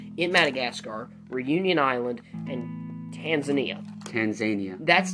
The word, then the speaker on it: Tanzania: Indian Ocean coast in Madagascar, Reunion Island, and Tanzania. That's Tanzania. Look at this. We cannot do this. Tanzania. Tanzania. Okay? Watch this.